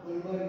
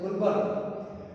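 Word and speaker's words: Guldberg: Okay, तो ये जो साइंटिस्ट है वो मैं आपको बता दूंगा, गुलबर्ग है, डी साइलेंट है मतलब गुलबर्ग, और दूसरा है वागे, ऐसा नेम है उसका, गुलबर्ग एंड वागे, ऐसा कुछ नेम मेंशन किया हुआ है।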